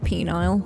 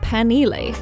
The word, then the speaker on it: Penile: Apparently they don't call it Penile, because who wants to say they live in Penile? They call themselves, or call their hometown, Penile. I really think that's wishful thinking. There's no way that this is Penile. It's fucking Penile. You have to get real with it.